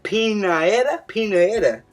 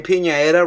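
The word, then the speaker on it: Pianeta: But just looking at his name, Pinaeta rhymes with Pinata, and we don't know who the fuck it is.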